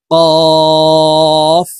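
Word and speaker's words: ك: ভাবে পড়তে পারি না কাফের উচ্চারণ জিহ্বার গোড়া থেকে একটু আগে বাড়াইয়া পড়তে হবে দেখুন আমি প্র্যাকটিক্যালি বলে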